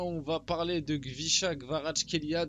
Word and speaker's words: Kvaratskhelia: va parler de gvicha gvarach Kelia d'ailleurs j'ai vu que normalement ça se prononce gvicha gvarat Kia ou avec un bref c'est hyper compliqué à dire on va l'appeler gvara